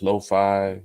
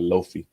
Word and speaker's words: lo-fi: at uh Lo-Fi Jazz Lo-Fi um and I'm saying it right Eli I used to call it loafy but uh so so